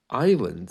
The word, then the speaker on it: island: of debris lying around Island another one where the S just vanishes oh which brings me